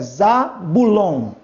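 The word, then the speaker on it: Ζαβουλών: ômicron com o Y, você nunca vai ler ou oi. Você vai ler u. Então, esse encontro ditongal representa a letra u no grego. Então, é Zabulon.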